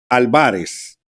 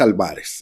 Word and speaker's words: Álvarez: explicar por qué es álvarez es una palabra grave no tiene acento si fuera esdrújula llevar acento si fuera aguda llevará acento al final pero no tiene acento en el apellido de este sinvergüenza y